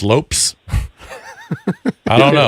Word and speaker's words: Lopes: I assume it's Lopez, or maybe it's Lopes. I don't know. It's Lopez.